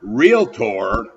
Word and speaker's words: Realtor: achieved either through experience or examination the word realtor is a broker who has joined the n